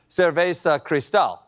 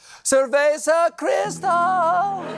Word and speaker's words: Cerveza Cristal: for the Chilean beer cesa Cristal I'm sorry I mispronounced that seresa Crystal and that's not all